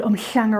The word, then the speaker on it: Umhlanga: I used to live called umhlanga rocks and that's spelled like this HL for that sound and there's a place